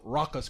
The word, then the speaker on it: Rakkas: It's off Tricky Meets South Raucous Crew. So Raucous is spelled Rakkas.